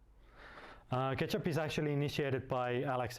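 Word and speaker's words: k3sup: that called k3s up pronounced like ketchup ketchup is actually initiated by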